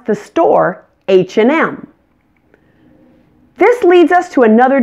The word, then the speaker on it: H&M: of the famous store H&M again that and in the middle is just pronounced n hmm and make sure to emphasize that M at the end H&M I just bought